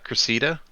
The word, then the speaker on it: Cressida: No, it's pronounced Cressida. Oh, is it Cressida? Yeah, it's Cressida, I'm pretty sure.